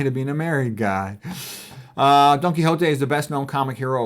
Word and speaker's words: Don Quixote: The proper pronunciation, Don Quixote, is like sort of the Hote. And you can even say it in a funny one. Donkey, like there's a donkey, Hote.